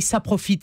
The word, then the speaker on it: saprophyte: Saprophyte, oui, ça s'écrit S-A. P-R-O-P-H. Ah oui, d'accord, c'est pas ça, c'est pas ça profite. C'est pas CCDI et plus loin profite. C'est pas en deux mots.